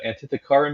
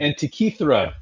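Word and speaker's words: Antikythera: The Antitheara mechanism. Am I saying that right? Anti Antra mechanism. Antichra.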